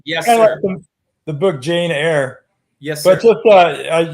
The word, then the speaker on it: Eyre: the first go around my last name is pronounced air like what you breathe got it I want